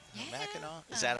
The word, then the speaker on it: Mackinac: Mackinac? Is that how you say it? Mackinac? Yeah, Mackinac.